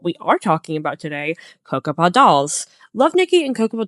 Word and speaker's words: Cocoppa: might recognize the name Cocoppa. That's how I say it, by the way. You might say it a different way. That's how I pronounce it.